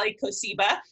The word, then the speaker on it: Kosiba: had no fault here I should've given you a primer on how to pronounce my last name everyone mispronounced is it but it's a Lika Seba and so yeah I'm